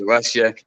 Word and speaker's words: Alessia: do I say it I said it wrong earlier four times I've said it wrong we we we almost certified that she' have her name uh misspelled or said wrong throughout her life because it's Alesia and then she's got